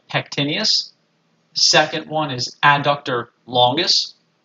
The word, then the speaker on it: pectineus: adductor magnus i'm sorry i said it wrong pectineus pectineus adductor longus abductor brevis adductor magnus gracilis